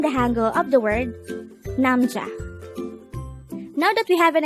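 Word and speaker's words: 남자: word number 124 this is pronounced as a two-syllable word the first syllable is num the second syllable is pronounce it with me namja is simply the korean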